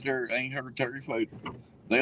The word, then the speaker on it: Fator: He spells it F-A-T-O-R. Is it Fader or Fator? Goddamn it, it's Fader. He's not Klingon. If he's Klingon, it'd be Fator.